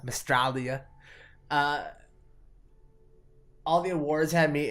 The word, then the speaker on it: Mystralia: Which Mandroid, who was our guest last week, he taught me to pronounce it like Australia, Mystralia.